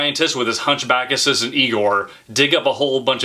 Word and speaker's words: Igor: a hunchback named Igor actually it wasn't Igor it was Igor to pronounce it correctly but ever since then